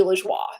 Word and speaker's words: LaJoie: It's supposed to be LaJoie, and that's how I've been saying it professionally, is LaJoie. Oh, good. It's how it's supposed to be pronounced in French.